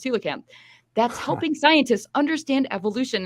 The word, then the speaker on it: coelacanth: a weird fish called the coelacanth pronounced hula cam that's helping scientists understand